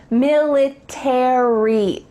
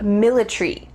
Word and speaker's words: military: In American English, you're going to pronounce each of the final letters, A-R-Y, military.